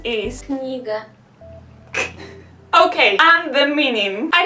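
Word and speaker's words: книга: Okay, so the pronunciation is... Kniga.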